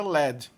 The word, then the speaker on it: lead: E a mesma palavra com a mesma ortografia, quando significa chumbo, é pronunciada led.